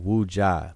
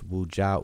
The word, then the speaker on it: Wuja'u: See, Unc has people pronouncing my name Wuja. My name is Wuja'u.